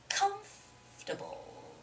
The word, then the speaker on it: comfortable: comfortably comfortable but actually there's a stress on the first syllable which has to be comfortable okay comfortable so you have to sort of make that first syllable come louder and longer stronger okay it's got to